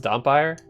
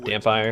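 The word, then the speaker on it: dhampir: Actually, is it pronounced Dompire? Like vampire, but with a D? We do Dampire.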